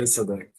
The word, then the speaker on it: Elsadek: Am I pronouncing Elsadek. Elsadek?